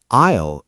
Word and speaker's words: aisle: Aisle is a very strange word to spell.